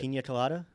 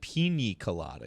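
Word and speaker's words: piña colada: Pina colada. Okay. Isn't that how you say it? All right. All right. I'll let it I thought you said pine colada.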